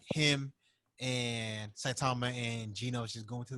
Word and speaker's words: Saitama: Saitama?